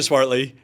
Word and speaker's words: Swartley: Speaking of which, ladies and gentlemen, I have to just say, so Swartley, am I pronouncing your last name right? Yes, Swartley? good job.